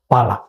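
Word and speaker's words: phala: Pahala itu jika ditulis P-H-A-L-A. Kita membacanya pahala. Tapi orang-orang yang berbahasa Sanskerta menggunakan pala.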